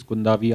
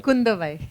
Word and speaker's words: Kundavai: So obviously you're playing Princess Kundavi. I hope I got the pronunciation right. Kundavai. Oh, Kundavai. I'm so sorry for that.